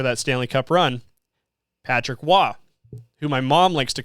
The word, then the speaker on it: Roy: Stanley Cup run Patrick W who my mom likes to call Patrick Roy just to make me mad because his name is spelled Ro y he's French Canadian though so it's w but my mom likes